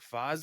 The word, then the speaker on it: FaZe: How do you pronounce it? Fazi? Phase Clan, FaZe Clan. Phase.